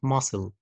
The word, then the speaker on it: muscle: اس سي ال اي زي كلمه muscle muscle طبعا سي silent letter okay طيب نيجي بقى